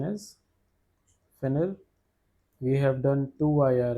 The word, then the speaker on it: finir: Pronunciation is finir.